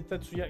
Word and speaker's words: Tatsuya: En effet, c'est Tatsuya. Katsuya, c'est l'autre frère. Faute de nom. Alors, il y a dans... Alors, tu peux... à certains moments, il prononce Tetsuya, mais la plupart du temps, il prononce Tatsuya.